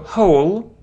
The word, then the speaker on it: whole: it's like when yeah we don't pronounce W here so not not hand